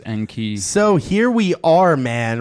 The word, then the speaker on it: Enki: triple flame emojis Anke I hope you pronounced it as n key but yes that's how